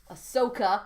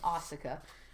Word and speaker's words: Ahsoka: So so we get weird shit like the pikes and Darth Maul and Ahsoka. Oh, I said it right. I have to train myself out of saying Asuka.